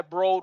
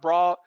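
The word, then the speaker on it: Eli Broad: never knew who eli brode was he pronounced it bro not broad but uh the business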